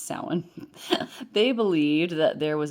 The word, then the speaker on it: Samhain: The ancient Celts used to call the time of the longest night of the year Samhain, pronounced Samhain.